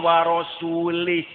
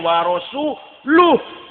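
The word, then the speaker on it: ورسولُه: Innallaha bari'um minal musyrikina wa rasulih. Allah tidak melindungi orang musyrik dan tidak melindungi Rasulnya. Salah. Salah. Bacanya innallaha bari'um minal musyrikina wa rasuluh.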